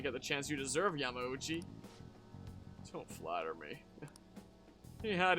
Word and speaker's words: Yamauchi: Oh, well, as I was watching the Persona 5 animation, it occurred to me that I found out from that how you actually pronounce it. I believe it's Yamauchi.